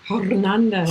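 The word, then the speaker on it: Hernández: Wes Smith here and Hernandez. Did I say it right? Yeah, you could have rolled the R. Which R? Hernandez. Hernandez. Not even, you can't even say the H either. Hernandez. Like churro.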